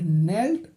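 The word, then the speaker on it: knelled: उसका प्रोनंसिएशन करते हैं इन the poem there is a word नेल्ड के इज साइलेंट इस पोयम में एक शब्द आया है नेल्ड और नेल्ड में जो के है के पूरी तरह से साइलेंट है यानी इसके प्रोनंसिएशन का कोई भी साउंड नहीं है नाउ पिक आउट द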